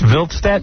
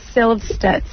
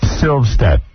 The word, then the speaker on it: Silvstedt: It's Vilstedt? Yeah, you said it wrong. How is it? Kick you there. Silvstedt. Silvstedt.